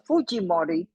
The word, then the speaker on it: Fujimori: And of course, I imagine most of you in Brazil know who is Alberto Fujimori, or Fujimori, as they pronounce his name in Spanish.